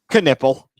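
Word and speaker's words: Knueppel: you know how it's pronounced how is it pronounced can nipple this is you wanting to be a sports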